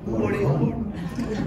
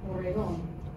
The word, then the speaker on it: orejón: Orejón. So they have these really heavy objects that made their ears really big. And so how do you say big ears in Spanish? Orejón.